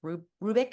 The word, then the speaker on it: Rubik: Beverly, I think it's Rubik is how she Rubik, pronounces it.